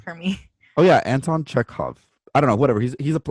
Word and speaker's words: Chekhov: a check off or is how you say check out like like checkoff's gun check off i don't know what you're talking about the writer anton chukov chekhov i don't know that